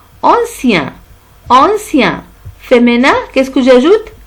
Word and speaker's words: ancien: Et on a dit que I-E-N se prononce ien. Ancien.